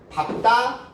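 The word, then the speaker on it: 밟다: 밥다, 자음일 때는 밥으로, 넙둥글다, 넙죽하다, 넓적하다, 이 세 가지일 경우에는 넙으로, 리을 기역 플러스 기역이 선택이 될 때는 밑에 받침에서 리을이 선택이 된다라고 하는 거.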